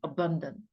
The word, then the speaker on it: abundant: 이거 발음을 넣어야 된다. abundant.